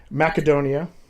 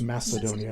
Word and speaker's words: Macedonia: Macedonia, and yes, I say it with a hard K because that's how they say it. Everybody here says Macedonia. It drives me crazy, but whatever.